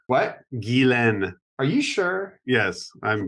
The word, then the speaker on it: Ghislaine: Guilaine. It's Guilaine. What? Guilaine.